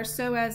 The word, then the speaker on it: psoas: Moving down, we can see on one side of our model our psoas major. Remember that's spelled with a silent P.